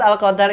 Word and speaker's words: Al-Qadr: Al Qadr rapat al-qadr biasanya ada yang baca kode roknya dihilangkan Hai insya Allah kita akan membacanya dengan rok yang jelas Lailatul Qadr gitu terus